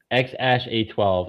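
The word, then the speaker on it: X Æ A-12: The goal here, it's pronounced X A12. X Ash A12.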